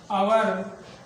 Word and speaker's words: hour: लिख देते हैं एन आवर, an honest, N एयर, एन आवर। H लिखा हुआ है, फिर भी क्या लिखा है? एन, क्योंकि H साइलेंट है।